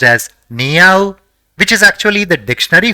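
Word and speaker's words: にあう: The first character in the word is ni, the second is a, and the third is u. So, it will be pronounced as niau, which is actually the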